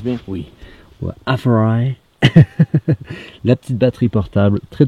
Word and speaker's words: AFERIY: Est-ce que je le prononce bien? Oui. Ouais, Aferi.